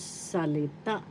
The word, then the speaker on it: salita: English and word is salita salita first syllable sa second syllable le third syllable The accent is in the third syllable.